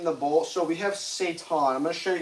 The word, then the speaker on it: seitan: When you pronounce seitan, it seems like the devil in Arabic, shaitan.